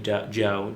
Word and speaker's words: Djo: music under the name Joe. He plays Steve Harrington in Stranger Things. Oh, I Um, like that guy. he makes music under the name Joe, DJO. The D is silent.